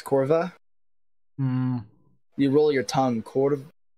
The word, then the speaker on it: kurwa: It yeah, just it's exactly how you write it, with corva. no special pronunciation. Oh, But it it's was not a with joke, V, JK. it's with the W. And we pronounce W as V.